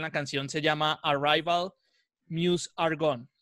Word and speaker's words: Meuse: Se dice Mus.